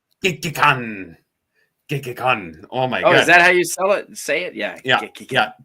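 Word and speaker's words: Gekkeikan: And it is not, that was a good, it is not Geineken, is it? It's not Geineken. Gekikan.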